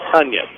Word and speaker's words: Toennies: Tunyes is spelled Toennies, pronounced Tunyes.